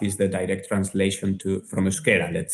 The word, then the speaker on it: Euskera: Is it Euskara? Euskera. Yes. Okay. Yeah. Euskera. So actually, Basque Country, right, is the country of the Basque, and Basque is the direct translation from Euskera, let's say.